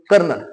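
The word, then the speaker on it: colonel: spelling पहिलेच बरोबर आहे कर्नल कर्नल या शब्दाचा अर्थ आहे जो अधिकारी असतो त्याला कर्नल असं म्हणतात पण स्पेलिंग लिहिताना आपण कोलन लिहायचं मराठी मध्ये आपण कर्नल म्हणतो पण लिहिताना असं लिहायचं आणि लेफ्टनंट लेफ्टनंट शब्दाचा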